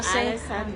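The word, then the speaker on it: Ålesund: Welcome welcome to Alisan Norway. Oh yes, that's the correct ano pronunciation.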